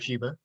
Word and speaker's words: Shiba: And today I have Jacob Shiba. Am I pronouncing that correctly? You are, yeah, Jacob Shiba.